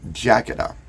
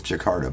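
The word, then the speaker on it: Jakatta: believe you pronounce it jacketa some people thought it was Jakarta but it's not his jacket up and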